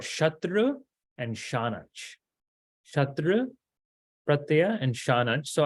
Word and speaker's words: Śānac: Śatṛ Śānac, Śānac. Okay, Śatṛ and Śānac. You can make it nasalized, but that nasal goes away, so that's why I'm not really pronouncing it so much.